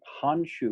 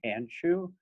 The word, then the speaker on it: Handschuh: name perfectly correctly and says it with honshu rather than hanshu and doesn't trip over